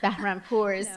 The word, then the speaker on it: Bahrampour: Okay, this She's going to re-pronounce her name correctly. It's so beautiful. I don't want four generations of Bahrampour's, too.